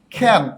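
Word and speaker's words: can: প্রথমত আমরা বললাম খ্যান। এই খ্যান অর্থ হচ্ছে পারা। আপনি খেয়াল করেছেন আমি ককে খ উচ্চারণ করছি, তার মানে এখানে ক্যান হবে না, উচ্চারণ হবে খ্যান।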